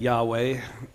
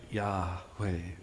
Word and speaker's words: Yahweh: The best guess is something like Yahweh, which both imitates breathing, right? Yahweh, and it's it's a play off the verb to be, which is why when Moses asks him, "Who are you?"